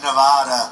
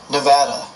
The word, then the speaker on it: Nevada: The Donald seemed delighted with his own pronunciation. Nevada. Nobody says it the other way. It has to be Nevada. Actually, Donald, wrong. This is right. Nevada.